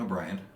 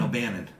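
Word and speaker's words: O'Bannon: was directed by Dan O'Brien now Dan O'Brien has one Bannon you're right Dan O Bannon yeah yeah I'm saying it wrong close enough please don't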